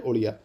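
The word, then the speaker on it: Odia: क्यों याद रखना है, क्योंकि इससे जो ओडिया शब्द था ना, उसको ओरिया को ओडिया कर दिया गया, ठीक है। द ओरिया language in 8th schedule shall be pronounced eight ओडिया।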